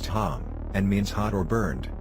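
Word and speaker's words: חם: his name is ham in Hebrew pronounced Tom and means hot or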